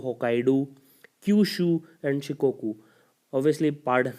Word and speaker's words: Hokkaido: They are Honchu, Hokkaidu, Kyushu and Shikoku. Obviously, pardon my Japanese pronunciation if anyone is hearing from there because I don't know how to pronounce them. But it's Honshu, Hokkaido, Kyushu, and Shikoku.